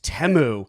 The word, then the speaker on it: Temu: we were like we saying it wrong it's temu so I think it's Asen uh it's a